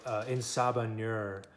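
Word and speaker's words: En Sabah Nur: that is ah or in saba nur is how you say it in the x-men language that cipher made that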